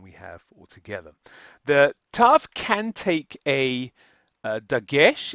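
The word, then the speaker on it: ת: will be the same so whether it has a dages it will still be pronounced T and whether it does not have a gesh it will still be pronounced T now here of course I'm still talking about the pronunciation not the transliteration so the pronunciation is going to be t as in tap or toe or um Tiddly Winks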